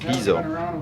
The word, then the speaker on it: Pizzo: Cat's name was Piso or Pizzo, pronounced Pizzo.